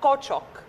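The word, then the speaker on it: Küçük: فانا بعرفت اولا الاسم تركي معناه جونيور او حاجه مش مهم، الصغير الصغير، وهو اصلا اسم تركي بينطق كوتشوك صح.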